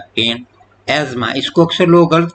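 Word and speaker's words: asthma: एज्मा। इसको अक्सर लोग गलत प्रोनाउंस करते हैं। This is नॉट एस्थेमा।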